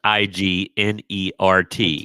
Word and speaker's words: ignorant: There's a Southern Ohioism where the word ignorant becomes IGNERT. Ignorant. And a 4-syllable word becomes 2 syllables.